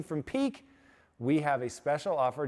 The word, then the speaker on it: Pique: com slash impact and peak t is spelled p i q u e t e a dot